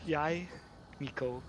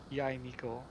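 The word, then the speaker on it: Yae Miko: Yai Miko. Yai Miko. I didn't know that's how you pronounce her name. All this time, I've been pronouncing it wrong.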